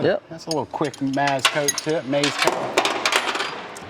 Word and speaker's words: MazCoat: That's a little quick maz-coat tip, maz-coat. How do you pronounce it?